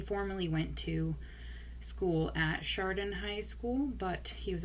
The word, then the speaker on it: Chardon: Lane in the Chardon High School shootings. Now, I had to look up how to pronounce the name of this town in Ohio,